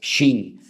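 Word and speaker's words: שׁ: tiene doble pronunciación, porque si arriba te encuentras un punto a la derecha es Shin, y si te encuentras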